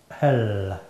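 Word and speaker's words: ale: Parce que de la bière, en Angleterre, ça s'écrit comme ça. Et ça se prononce elle.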